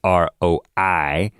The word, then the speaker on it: Roi: Of course, Roy is ROI. and not Wasabi ROY. and Wasabi is spelled.